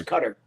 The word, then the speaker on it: Qatar: Qatar or however else you pronounce it. I think it's Qatar. Yeah, but there's no way to actually. It is Qatar, but there's no actual way for us to